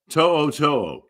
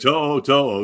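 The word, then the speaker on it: To'o To'o: To'o. Sounds like I'm getting it wrong, but To'o is how you say it. Yeah. To'o.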